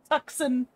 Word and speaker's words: Tucson: It's pronounced Tucson, damn it. Tucson.